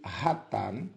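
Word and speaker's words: חטא: e seu equivalente verbal chat pronuncia-se ratar com H aspirado que literalmente significa errar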